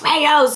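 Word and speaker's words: Rao's: about this brand here it's rayo's hopefully i'm saying it right someone corrected me last time i talked about it they're like it's rayo's they have different flavors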